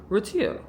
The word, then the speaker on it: Retiro: be the Retiro or Retiro how would you pronounce that Mario? r e t i i r o Retiro okay.